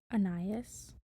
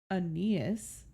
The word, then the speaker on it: Aeneas: words in your head anias yeah no it's pronounced Aeneas Aeneas I Googled it about